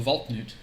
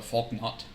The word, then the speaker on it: valknut: know that the vault the vault newt is how it's pronounced uh not uh faulknot no is it fall not yeah you know they